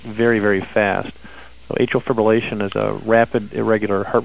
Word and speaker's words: fibrillation: teaming to help americans with a trivial uh fibulation fibrillation okay atrial a-t-r-i-a-l i can spell it better than i can say it fib